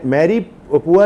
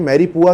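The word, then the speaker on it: mirepoix: मैं मैरी पुआ यह एक फ्रेंच टर्मिनोलॉजी है। मैरी पुआ कहलाती है। एम एम ए आर आई पी ओ यू एक्स x silent हो जाता है।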